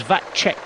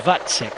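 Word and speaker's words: Vacek: other day because uh I thought it was vat check but it is vatsec so thank you very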